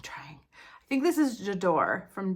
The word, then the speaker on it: J'adore: think it's called jador jador I always want to say jadori and somebody corrects me in every video like it's jador so I'm trying I think this is jador from D Dior I